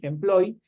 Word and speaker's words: employee: Mientras que si yo digo employee, que termina en la doble e que se pronuncia como una i employee, obviamente esto es se traduce como empleado.